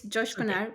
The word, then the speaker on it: Coşkuner: joined today by Josh kuna did I how did I do with the pronunciation of your name I've been practicing but is it okay it's okay it's Josh gar but you know I